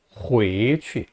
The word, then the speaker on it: 回去: 回去, 回去라고 합니다. 回去하고 취를 강하게 내지 말고요, 약하게 발음합니다.